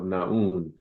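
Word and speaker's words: Nun: One of the most prominent ones tells about the primordial waters of Naun. Naun is spelled N-U-N, and that there was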